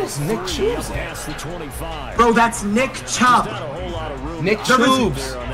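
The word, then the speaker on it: Chubb: Nick CH bro that's Nick chub Nick right Nick tubes does not exist that is actually gonna piss me off bro his name is Nick chub stop calling him Nick tubes dead ass bro third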